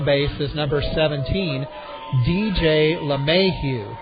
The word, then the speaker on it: LeMahieu: Batting second and at second base is number 17, DJ LeMahieu. It's spelled capital L, little e, capital M-A-H-I-E-U.